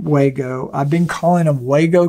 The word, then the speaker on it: WAGO: Well, it's not Wago connectors. It's not even Wago. I thought, well, you know, if I'm mispronouncing Wago, maybe it's Wago. Oh no, it's Wago, like W-A-U-G-O.